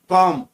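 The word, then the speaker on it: calm: Eighth में कॉम, इसमें B silent रहता है।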